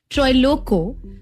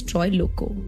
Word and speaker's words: Troilokya: But yes, today we're talking about Troy Loco. That's how it's pronounced. It's spelled very differently. Don't go by what it's spelled. It's Troy Loco.